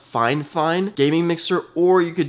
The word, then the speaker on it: FIFINE: or go to Amazon and let me just type in fine fine it's spelled f i f i n e but it's pronounced fine fine gaming mixer or you